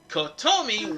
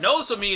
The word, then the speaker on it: Nozomi: to uh 75 percent kotomi will be no nozumi God damn it I keep mispronouncing her name but nosomi is going to be freaking out because